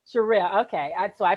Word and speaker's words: Sherell: Is it Sherelle or Cheryl? Sherelle. Sherelle. Okay. So I pronounced it wrong.